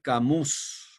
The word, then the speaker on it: Camus: se escribe sartre y alber camus que se pronuncia cam camus hay una obra que